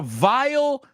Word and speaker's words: vile: There was a vile stench coming from the vial. They are homophones.